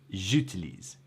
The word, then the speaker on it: j'utilise: and you've got to take this pause before you get to the utilise, right? It doesn't flow off the J. Bref, it's j'utilise, j'utilise.